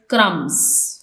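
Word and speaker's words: crumb: bird is eating bread क्रम क्रम इसमें B silent है सेकंड सना इज क्लाइमिंग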